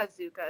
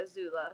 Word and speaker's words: Azula: Not Azuka, Azula.